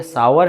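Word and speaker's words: sour: इसका right pronunciation ना तो शोर है ना ही आपका शोर है, बल्कि ये सावर है, जो आपको अनयूजुअल लग सकता है।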